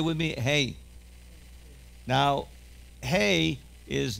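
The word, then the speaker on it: ה: But in Hebrew, like in Spanish, the H sound, the hey, is not pronounced too strong.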